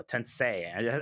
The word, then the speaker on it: Tensei: Tensei. I have to tell myself rhymes with Sensei.